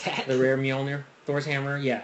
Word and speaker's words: Mjolnir: let you go ahead and pronounce that. The rare Mjolnir, Thor's hammer.